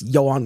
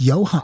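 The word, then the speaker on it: Ioan: And I think it's Johan. It's just spelled, I don't know, not a way I would pronounce Johan.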